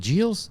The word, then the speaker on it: Gilles: that up on Netflix is it is it JS I I pronounce it g yeah Ralph JS yeah all right well there's I I I